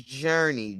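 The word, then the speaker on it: Jurnee: okay no i'm sorry my name is journey j-u-r-n-e-e oh and of course they couldn't spell it like the regular journey they had to freak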